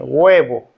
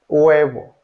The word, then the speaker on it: huevo: Letter H, although writing letter H generally doesn't pronounce as in huevo, huevo, huevo.